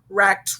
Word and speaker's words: wrecked: So the first letter is silent. So try to remember that. The W is silent. It makes the sound. Okay, here are some examples. We have words like wrench, wrecked, wrestle, wrist, wren, wreath.